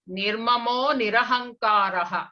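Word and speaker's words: निर्ममो निरहङ्कारः: Nirmamo nirahankaraha. There you cannot just drop visarga. It should be pronounced because it is after the 8th letter.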